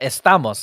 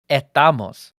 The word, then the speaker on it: estamos: day and uh like the word uh estamos like we are right um it gets pronounced a lot uh in spain and in puerto rico as etamos like what what what is that you're missing letters you can't just not say letters man but it reminds me